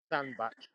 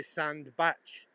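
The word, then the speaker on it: Sandbach: bark but we say sand batch we pronounce it batch like b a t c h you know batch sand sand batch uh yeah all it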